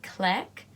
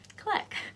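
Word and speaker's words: Cleck: video fact number one his name is click that's his passport name so you say this is how you spell it CL e ck click click that's his name that's also his name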